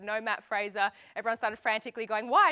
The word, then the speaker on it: Matt Fraser: when we said no Matt Fraser. Everyone started frantically going, why no Matt Fraser? Is he injured? Kate McNichol even said no Matt Frazier, which I think is a reference to Tommy's pronunciation, but Matt Fraser has